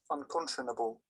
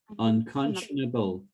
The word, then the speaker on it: unconscionable: let's look up the meaning nine let's hear pronounced first of all unconscionable okay unconscionable unconscionable unconscionable there's an end there in conscientious